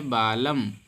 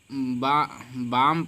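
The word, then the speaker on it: balm: प्रकार से लिखा है बालम बालम को हम बम पढ़ेंगे ना की बालम बालम मेंस होता है मरहम इसको हम बालम नहीं पढ़ेंगे अल आपका साइलेंट हो जाएगा बालम पढ़ेंगे इसी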